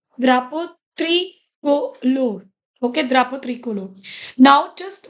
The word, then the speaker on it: drapeau tricolore: See, whenever you have the word this, it has the pronunciation ah. That's why it is dra. Another word is u. It has the sound o. Okay, o, right? So it becomes drapo, drapo tricolor.